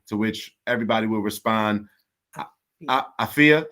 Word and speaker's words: afya: say is habarigani to which everybody will respond afiyah say pronounce it again so everybody will respond afia habarigani are you ready all right you ready